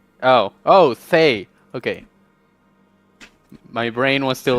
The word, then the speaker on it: Thay: No, it's a TH, not an F. Oh, Thay.